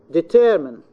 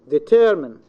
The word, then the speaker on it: determine: In the middle, determine, determine, deter, this is the stress.